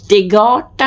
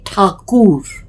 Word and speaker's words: ঠাকুর: এই টেগরটা কিন্তু ব্রিটিশরা বলতেন বলে টেগর বলা হয়। আসলে ঠাকুর, র বয়দীর্ঘী, নয় দয় রফলা, রবীন্দ্রনাথ নয়াকার থ।